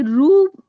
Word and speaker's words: ऋ: हैं हम लोग इसको हम हम ना ऋ बोलेंगे ना कृ बोलेंगे हम बोलेंगे रु ऋष ऋषि में हम